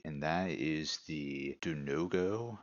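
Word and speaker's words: Vodongo: that is the do no-go is that how you say that it's v-o-d-o-n-g-o so I would assume it is pronounced a no-go snakes so they move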